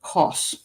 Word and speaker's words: Kos: So I pronounce Kos. Okay, good. Somebody said I pronounced it correctly.